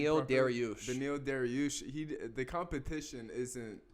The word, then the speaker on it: Beneil Dariush: That's my personal opinion, He's like 37 at the same time, Dariush, how do you pronounce his last name? Beneil Dariush.